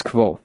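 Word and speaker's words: Kvothe: his smile broadened mine my name is k pronounced nearly the same as names are important as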